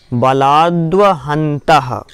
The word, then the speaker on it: बलाद्वहन्तः: एक तो मति ज्ञान बलाद्व, बलाद्व दामे वा है, दामे वा है तो क्या बोलेंगे द्वा, बलाद्वहन्तः। चलिए पूरा उच्चारण कर लें।